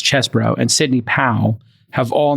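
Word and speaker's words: Chesebro: Jenna Ellis, uh, Kenneth Chzbro, it's spelled Cheese Bro, but it's Chesbro, and Sydney Pal have all now pleaded guilty.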